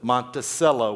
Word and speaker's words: Monticello: Monticello, we call it. Monticello, not cello. Monticello is Thomas Jefferson's pronunciation.